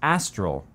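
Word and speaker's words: Astrill: uh but it's pronounced astral kind of like an ass in front of your nostril you can actually choose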